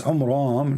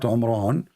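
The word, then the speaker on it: Amram: It's Umram, not Umran, but because he did not know how to pronounce the Jewish name correctly as usual.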